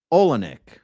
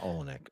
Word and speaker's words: Olenek: Name pronounced Anna Olenek. No, is it pronounced Anna? Anna Olenek. Olenek. Okay, cool. Good to know.